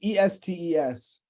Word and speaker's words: Estes: anybody uh please hold is there like a pronunciation thing on this baseball reference page uh let's see it's e-s-t-e-s um what's spelling of Sean WN okay yeah